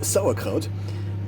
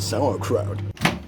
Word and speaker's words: Sauerkraut: So in German you would pronounce it sauerkraut, but in English, with my English accent, I would pronounce it sauerkraut.